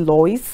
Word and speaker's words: Lois: But now with me is still Lois. I think I pronounced as Louis the first time.